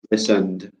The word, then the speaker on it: listened: How do you pronounce this verb? Is it listened or is it listened? Listened. That's right, it's the second one, listened.